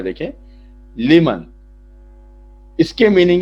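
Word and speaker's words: لمن: उसके बाद एक वर्ड है लिमन, उसका प्रोनाउंसिएशन यहां लिखा हुआ है देखिए, लिमन।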